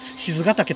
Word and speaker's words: 賤ヶ岳: 99 何の戦いこれね賤ヶ岳と読みます鈴鹿だけはい賤ヶ岳夜はこれ